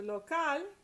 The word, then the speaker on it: local: Then we go to local, which the stress is on the last syllable because it ends in a consonant other than N or S.